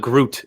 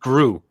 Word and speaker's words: Gru: groot is from uh no not groot group rude groot no it's just gru like gru as in you grew two inches over the summer like